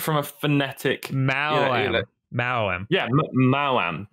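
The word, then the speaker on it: Maoam: That is apparently Mao-am. How you say it. Okay. But for some reason, when I grew up, I always called them Moams. That's just wrong. Yeah, that is definitely wrong.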